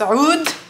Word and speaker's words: oud: the dark Amber oud it's pronounced UD not oud and then I'm trying